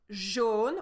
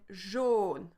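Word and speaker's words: jaune: are going to see in the first one zhen we have the song uh so you see you look at my mouth I say uh but for the word Jean we have the o sound like in Boku so we have o you see the lips different shape so we have Jean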